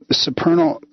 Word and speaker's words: supernal: So Neil teaches the supernal. No, see, I already got it. Now I can't. How do you pronounce that, Neil?